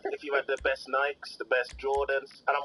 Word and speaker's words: Nike: I'm working class, so I say Nike instead of Nike. That's weird to me. You mean you don't do the classical Greek pronunciation, Darren? No, it's always been Nike.